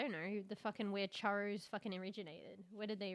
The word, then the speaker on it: churro: I understand that it's probably churro. Churro. You gotta roll the R's.